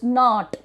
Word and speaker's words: knot: So now just try to remind me about this knot. K-N-O-T, knot. It is not knot, it is not. K is silent over here.